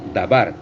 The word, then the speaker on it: dabar: palabra, en hebreo significa dabar, perdón. En hebreo, su pronunciación en hebreo es dabar, que significa palabra.